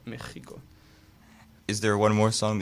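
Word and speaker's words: México: ex like for example Mexico it's you say like a j an X or like Mexico is there one more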